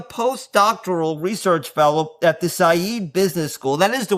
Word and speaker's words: Saïd: He's currently a post-doctoral research fellow at the Saïd Business School. That is the way you pronounce it, right, Oğuz?